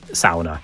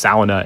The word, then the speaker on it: sauna: Or perhaps I should say sauna. I know I'm going to get lots of complaints because I usually use the kind of common English pronunciation, but of course it's sauna in Finnish.